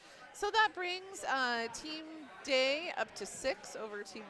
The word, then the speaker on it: Dei: So that brings uh team day up to six over team Norqu and team uh one and they are starting their success pronounced D. Oh D, not day.